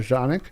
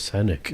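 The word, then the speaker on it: Canik: called like the American a lot of people in America call it Canic but original pronunciation in Turkish is called Janik Janik I thought it was sanic right c n i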